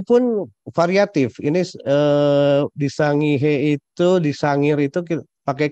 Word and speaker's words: Sangihe: ambil contoh kasus ya di Sangihe atau Pulau Sangihe tapi dibacanya Sangir di Sulawesi Utara tahun